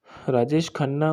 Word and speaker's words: राजेश खन्ना: थे राजेश खाना के बारे में राजेश खाना राजेश खन्ना उच्चारण जिन्हे जतिन खन्ना का के नाम से जतिन